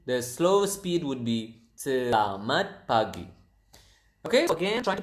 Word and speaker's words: selamat pagi: It is selamat pagi. Se la mat se la mat pa pagi. Selamat pagi. So, the natural uh speed would be selamat pagi.